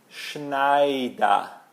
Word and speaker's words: Schneider: Ou família Schneider, Schneider.